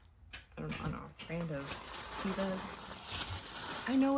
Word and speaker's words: Teva: if it's like, I don't know, brand of Tevas. I know it's pronounced Teva, but I've said Teva my entire life.